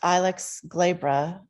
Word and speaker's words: Ilex glabra: Yes, so the inkberry shrub, pronounced Ilex glabra, has many names.